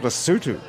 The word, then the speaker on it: Lesotho: Houston with you - it's called Basu - yes even though it's spelt lesotho exactly ok so are